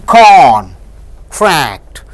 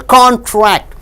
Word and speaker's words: contract: So next here, when you stress on contract, A and O to give two syllable, contract, it means an agreement. The contract is profitable. Now when you stress on tract, what happens? Contract, it means reducing.